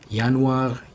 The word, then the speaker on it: Januar: Nah, terus jangan lupa yang semua yang dimulai dengan J pokoknya huruf J itu dibacain jadi Y. Yanar, Juli, Juni.